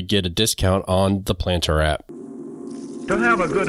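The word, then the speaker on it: Plantr: using this app and the planter app which is spelled p l a n t r is available in your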